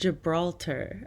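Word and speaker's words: Gibraltar: here it's on the Iberian Peninsula and it's pronounced Gibralter I've never seen that written out anyway back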